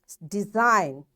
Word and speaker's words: design: G design. G is silent.